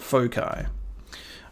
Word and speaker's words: foci: You pronounce it foci.